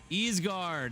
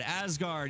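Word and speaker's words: Ysgard: The next dimensional plane is Egard. Asgard. Egard. However you want to say it.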